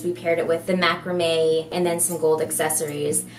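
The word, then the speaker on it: macramé: That's how you say it, macrame.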